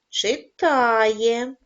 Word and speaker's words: читає: падає на другий склад читає наголос падає на звук а співає наголос падає на